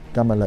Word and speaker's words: Kamala: hecho, nos dimos cuenta, Kamala es como se debe de pronunciar su nombre, en automático se convertiría